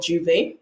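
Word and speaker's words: j'ouvert: So dirty mass can also be the equivalent of juve or juve, if you wish to pronounce it properly.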